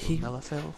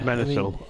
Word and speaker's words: Menethil: Arthas Melody, Melithil? Yeah. Menethil. Arthas Menethil.